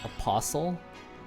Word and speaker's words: apostle: Maybe like in American it says it's pronounced as apostle, and maybe with British English it's apostle.